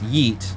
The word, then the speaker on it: yeet: No, it's yeet. She mispronounced it for you.